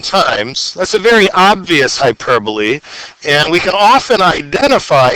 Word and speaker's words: hyperbole: And never say hyperbole if you want to impress your friends, because the correct pronunciation is hyperbole.